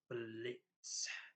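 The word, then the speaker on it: Blitzø: Well, he was known as Blitz O, but the O is silent, so it's Blitz.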